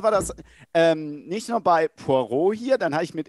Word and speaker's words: Poirot: Wie wird er ausgesprochen? Poirot, genau.